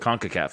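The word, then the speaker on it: CONCACAF: Men's National Soccer Team they three peated the conaf which I that's how you're supposed to pronounce it conaf yep okay I every time I say it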